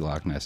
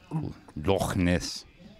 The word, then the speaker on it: Loch Ness: And actually, if you pronounce it in Scottish correctly, it's Loch. Loch Ness.